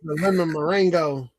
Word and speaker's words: meringue: Not about the merengue. Oh, Lord. Did I say merengue? Was it meringue? You said. I tried to spell it out phonetically on that comment. I think you said meringue. Meringue. Lemon meringue.